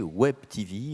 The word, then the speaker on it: Web TV: langue France française mais on m'a bien précisé qu'il fallait prononcer Web TV et comme vous avez